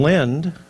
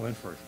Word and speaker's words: Linford: let me have John Lind come up and say a few words. Thank you. I didn't forget, right? You got my name wrong, though. Linford. My name's John Linford.